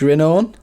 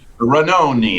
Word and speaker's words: Renoni: in as well, Trish Renone? Yeah. Is that how you say it? Renoni, it's Italian.